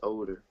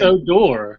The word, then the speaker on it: Odor: we don't written in a door now he just teaches 21 he's gonna be awesome I mean no it's cuz his last name is odor come on man help me out it's a door come on I know